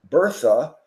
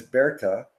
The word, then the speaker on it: Bertha: married her my wife her name was Bertha Bertha she is Cuban so the proper pronunciation of her name is Berta Berta never went home Mary